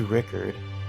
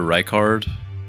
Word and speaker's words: Rykard: I think you meant Praetor Rykard. Oh, okay. Rykard? I've never, Yeah. I've never Giant heard. snake man. The blasphemous. Okay, I've never heard Yeah. his name pronounced Rickard before.